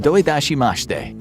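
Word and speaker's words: どういたしまして: to say you're welcome in japanese which is pronounced doidashimashte if you're up for some more foreign language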